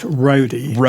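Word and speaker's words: Rhoddi: your son Brian he runs uh is it Rody bicycle it's pronounced Roadie like take on Roadie Road bikers and that's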